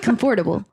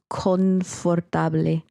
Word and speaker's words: confortable: minute to grasp that in Spanish it's an N. It's confortable.